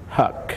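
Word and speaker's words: Huq: and your last name Huck spell h H uq but pronounced like h u c k we're both here put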